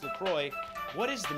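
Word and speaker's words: LaCroix: Lacroy. Lacroy.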